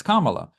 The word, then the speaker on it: Kamala: the other host they corrected her and said it's Kamala, and she's like, no, Kamala, and they're like, No, no, Kamala. and Yeah. then everybody in the table were like correcting her, like you're saying it wrong, and she's basically saying,